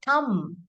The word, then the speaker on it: thumb: So I hurt my thumb, not thumb.